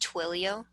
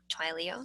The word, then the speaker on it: Twilio: It's actually pronounced Twilio, not Twilio. So just in case anybody asks you in person, that is how you should actually pronounce it.